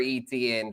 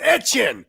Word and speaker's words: Etienne: Oh yeah, and Etienne's brother, Trevor Etienne, transferred to Georgia. Do you think he got balls and he tells everyone it's pronounced Etienne?